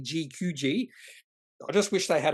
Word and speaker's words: GQG: can never get right I always want to say qgq but it's actually gqg I just wish they